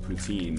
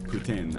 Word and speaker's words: poutine: to my love of poutine uh Putin I apologize but the canadianized pronunciation or English Canadian pronunciation is poutin I mean it sounds